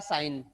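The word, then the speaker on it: sign: इसको पढ़ा जाता है, और साइन में ये जो वर्ड है ना जी, ये साइलेंट होता है।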